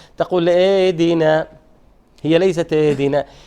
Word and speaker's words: اهدنا: الهاء حرف ضعيف خفي. Very light sound should be ha. فلا بد، بما أنه خفي وضعيف، إذن لا بد من الاهتمام به وإبرازه، وإلا هو يتحول إلى همزة. هو يتحول عادة إلى همزة.